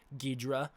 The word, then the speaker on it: Ghidorah: But Toho officially markets the character as King Ghidorah. That's how they've been marketing since the 90s, and that is the preferred English pronunciation of the name.